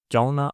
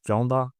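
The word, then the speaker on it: ਚਾਹੁੰਦਾ: explained this thing when we make da sound to like a na sound. You can watch that one. But anyway, either way, whatever you want to do, chahona or chahonda, all right?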